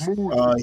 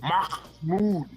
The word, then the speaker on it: Mahmoud: Mahmoud. He was a Let me green teach you card how to say holder. it. You gotta say it like And Mahmoud.